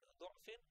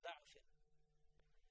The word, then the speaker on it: ضعف: Allahu alladhi khalaqakum min da'afin. Again, thumma ja'ala min ba'di da'afin. It is pronounced like that. There are two traditions. Both are okay. Both are perfectly right.